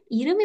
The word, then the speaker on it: 이름이: Saya bacanya kok Iremi bukan Irem I. Nah, sama kayak bahasa Inggris juga sebenarnya ya diseret aja gitu. 이름이 Jangan 뭐예요? Irem I, tapi Iremi.